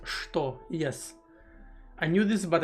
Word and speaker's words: что: I was thinking earlier and I noticed that что is actually pronounced что.